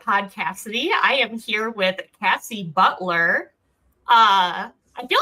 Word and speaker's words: Cassie: I always get no one knows how to pronounce Cassie for some reason. I get Casey all the time. What? So when I introduce myself in corporate settings, I have taken to saying it's Cassie.